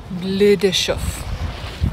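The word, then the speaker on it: Bleu de Chauffe: So from my understanding of the French language, it's pronounced bleu de chouf.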